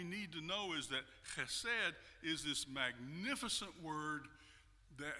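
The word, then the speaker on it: חֶסֶד: The Hebrew and Aramaic word he would have said is you kind of have to clear your throat at the beginning, and then you say the word. It's pronounced chesed.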